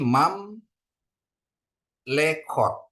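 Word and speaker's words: ממלכות: ya mam lekot ya jadi dia ini spa silent ini spa moving spa ahah dibunyikan e e pendek begitu ya Bapak Ibu ya jadi mam lekot ya jadi bacanya mam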